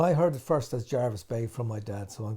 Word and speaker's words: Jervis Bay: the name jarvis but generally i think in the uk it's pronounced jarvis like berkeley or darby and i heard it first as jarvis bay from my dad so